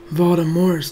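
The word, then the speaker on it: Voldemort: their lives to stop Baltimore's terror and yes by the way that is the right way to say his name if you're pronouncing the T you're actually doing your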